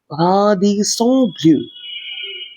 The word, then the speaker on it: Radisson Blu: Rather, in French, the pronunciation would be like Radisson Blu.